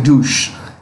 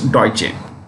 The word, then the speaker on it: Deutsche: it deutsche or deutsche don't say douche because that's how i used to pronounce before i get to i got to know it's deutsche which is german okay deutsche bank um